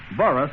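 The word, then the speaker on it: Burrus: comes to you sponsored and transcribed by the burris millen elevator company makers of good old light trust flower by the way let me spell burris for you we've been spelling light crust occasionally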